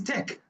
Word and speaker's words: Teck: But it's Teck. It's still pronounced Teck.